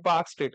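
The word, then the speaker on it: Palk Strait: पी ए एल के पार्क स्ट्रेट L silent होता पार्क स्ट्रेट कहते ठीक है आ मालदीव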